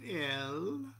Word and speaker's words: El: When you complete drawing that pentagram, you say El. I know it's pronounced, it looks like Al, but you can pronounce it that. It's spelled Aleph Lamed, but it's pronounced El.